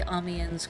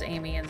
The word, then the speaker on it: Amiens: to not say amiens he did say amians correctly I don't know what I was thinking I guess I was just projecting and imagining that he was pronouncing amians as Amy and it's just for fun